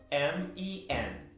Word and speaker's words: men: Quando ele vira plural, ele vai ficar M-E-N.